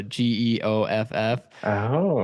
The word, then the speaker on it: Geoff: But the AI driven leader, It's by Oh, Jeff Woods, and it's the Jeff oh, that's spelled Geoff, so Geoff.